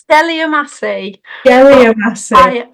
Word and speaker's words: Geliamassi: Great Western Railway jelassi now first and foremost have I pronounced your name right I should have checked this with you if I pronounced your surname correctly it's gelly Massi I will go with